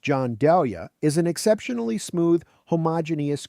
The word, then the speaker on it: Gianduja: Gianduja, pronounced John Dahlia, is an exceptionally smooth,